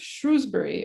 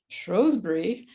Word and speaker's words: Shrewsbury: And discovered the English town of Shrewsbury or Shrewsbury, which they can't decide how to say their own town.